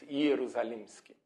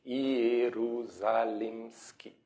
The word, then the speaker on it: Ierusalimschy: that way, and then we started pronouncing more or less like it's written, but I have no idea if this is the correct pronunciation from my ancestors, but anyway, I pronounce Ierusalimschy. It's more or less like it's written if you get typical Latin vowels, like Ierusalimschy.